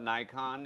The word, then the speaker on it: Nikon: think is a phone nikon is the uh yeah now now the americans call it nikon if you're in the community you need the japanese pronounce it nikon which is right of course they do